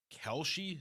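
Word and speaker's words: Kalshi: Is it Kelshi?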